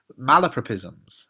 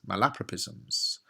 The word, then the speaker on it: malapropism: are a lot of malopropies malapropisms my laprapisms you can uh pronounce this word a few ways um but but this